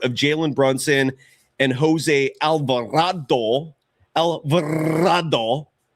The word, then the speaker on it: Alvarado: Jaylen Brunson and Jose Alvarado. Alvarado not rolling my Rs well tonight. Jose Alvado. Does that rhyme with avocado? Alvarado.